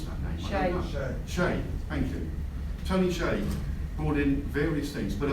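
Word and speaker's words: Hsieh: h s i e h how did you pronounce that nation thank you tony shea brought in various things but amongst others he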